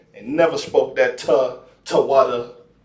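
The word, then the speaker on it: תודה: They never spoke that Toadah shit. That's crap. You see what I'm saying? They never spoke that Tawada. They never spoke that. It's the water is how you say thank you, not Toadah.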